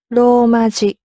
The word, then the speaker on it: ローマ字: And you'll notice when Mickey is pronouncing ローマ字, it's a long ro, ローマ字. ローマ字.